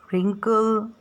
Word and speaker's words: wrinkle: In the column 3, all the words start with letter W, and W sounds W, though we pronounce the word like wriggle, wrinkle and write. क्यों? क्योंकि यहाँ पे W silent है।